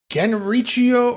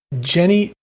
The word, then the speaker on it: Genichiro: And you have, again, another person from NWO Revenge, Saladin, who is Genrichio. Oh my god, I know how to say his name, but I can't say his name. Genichiro.